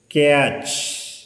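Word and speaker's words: catch: അപ്പോൾ സി എ ടി സി എച്ച് ഒ ക്യാച്ച്, എം എ ടി സി എച്ച് മാച്ച്. പക്ഷെ ഇവിടെ ടി ഉച്ചാരണം ഇല്ല, വാച്ച്, ക്യാച്ച്, മാച്ച്.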